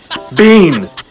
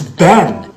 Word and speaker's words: been: be teen which means this word is Bean no it's Ben like where have you been like it's because it's